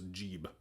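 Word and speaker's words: Geb: English as an aside we don't know that it was actually pronounced geeb or gab or anything like that because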